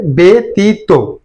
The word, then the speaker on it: ব্যতীত: অনেক সময় প্রভাব ফেলে এখানে ব্যতীত না হয়ে উচ্চারণ হবে বেতীত অর্থাৎ জফলা থাকার কারণে